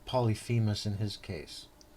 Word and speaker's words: Polyphemus: How do you pronounce this guy's name again? Come again? Come again? Polyphemus?